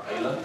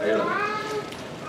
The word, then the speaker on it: AILA: Am I pronouncing that right? AILA? Yeah. AILA.